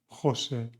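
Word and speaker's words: José: J followed by A, O, and U, like cirujana, Jose, and juez.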